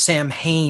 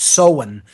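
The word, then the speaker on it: Samhain: s a m ha a i n not pronounced Sam Hae but seen in the uh druidic tradition this is of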